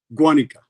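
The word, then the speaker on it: Guánica: Guanica.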